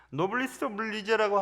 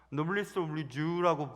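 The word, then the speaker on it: noblesse oblige: 노블리스 오블리제라고 하는 말이 있잖아요. 영어로는 제라고 발음하고 프랑스어로는 주에 가깝다고 그러더라고요. 프랑스 말 제가 들어보니까 노블리스 오블리주라고 발음을 한다.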